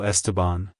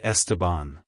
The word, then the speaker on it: Esteban: the DS and bond syllables and the is pronounced like the in say like Hello estabon Goodbye estabon if you found the video helpful hit the